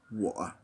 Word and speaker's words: 我: So I is 我. It's like saying the English word war, but without the war, without the R of American pronunciation, more like the way I would say it, and I'm an Australian, war, right?